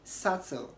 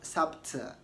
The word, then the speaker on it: subtle: doubtful not doubtful okay you also want to say subtle and not sapta okay so that is